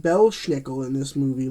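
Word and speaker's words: Belsnickel: she know that belle snickel which is not pronounced belle schnickel in this movie like it should be it's pronounced bell snickle bell snickle hears he's like wrecked his belt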